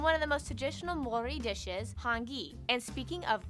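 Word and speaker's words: Māori: korea and japan yes by the way it's pronounced mori not maori maori they use the new zealand dollar as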